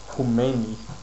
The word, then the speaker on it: Khomeini: Now, chess was actually banned in Iran by a guy called Ayatollah Khomeini, who is this guy here, and his second name is pronounced Khomeini.